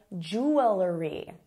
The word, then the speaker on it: jewelry: I say jewelry, some people say jewelry. That's a big difference, a couple additional syllables.